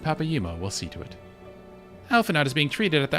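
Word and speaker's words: Alphinaud: Alphanaut is being treated at the hourglass. Hurry, Jack. It's pronounced Alphanod.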